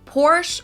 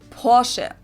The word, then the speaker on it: Porsche: it's located inot Germany I've heard Americans pronounce it Porsche or porsi in German we say Porche so there's like this short a sound in the end POS it was founded